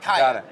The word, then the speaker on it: KYA: All right, Jeff Weisbein, founder and CEO of Kaya. I got that right? Kaya. Got it.